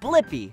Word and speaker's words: Blippi: name do you know my name yeah it's blippi let's spell it together ready b-l-i p-p-i flippy good job